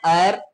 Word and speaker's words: heir: से जानते हैं बच्चे आप इसे कह सकते हैं एर इसमें एच साइलेंट होता है बच्चे आप कह सकते